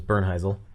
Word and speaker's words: Bernheisel: like hey you know my last name is Bern hazel people can't say it or spell it so I sure yeah and I was